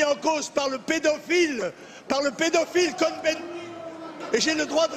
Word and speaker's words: Cohn-Bendit: Monsieur Cohn-Bendit, puisque nous sommes en France, on le prononce à la française.